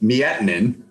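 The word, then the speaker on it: Miettinen: mean nick knows vidi miettenin sorry vidi because i called him mitten for three weeks but that's what the pronouncer said but nevertheless but now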